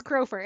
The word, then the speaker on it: Crofer: It's Crofer. It's spelled like the bird, Crofer. crow.